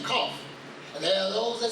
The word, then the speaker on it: Qaf: And it goes in the back of the throat in its pronunciation, Qaf.